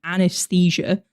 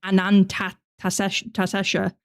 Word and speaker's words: Anantashesha: For some reason, whenever I've been reading the name of this SCP, I've been thinking it's like a weird pronunciation of anesthesia. I didn't realize it said like Anantashesha. I didn't realize that's how you said it.